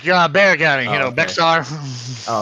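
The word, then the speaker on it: Bexar: That shit's It's bear county. You just ignore the X. I was like, "All right, what?" Okay. Bear like Bayer aspirin.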